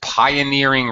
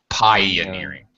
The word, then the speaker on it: pioneering: Anyway, which conducts pioneering research. All right. Pioneers are the first people to do things. Pioneering. It's a long I.